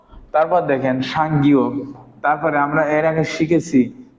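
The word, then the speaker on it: 쌍기역: তাহলে একে কি বলবো, সাংগিয়ক। তাহলে দেখেন এটাকে কি বলবো, সাংগিয়ক। সাংগিয়কের উচ্চারণ হবে কার মতো, ক।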